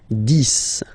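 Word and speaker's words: dix: 10, okay, so remember, final X here is pronounced like S, 10, 10, okay, then 11,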